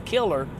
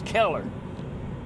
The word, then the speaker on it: Keller: And he plays Derek Keller in this, which is funny because every time they say his name, you think they're saying Killer, but it's Keller.